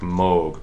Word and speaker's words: Moog: move synthesizers excuse me mo we're supposed to pronounce the word moge that's mo oh gee an original style of computer keyboards synthesizer developed by Robert moge pronounced mo I'm just pronounced it all the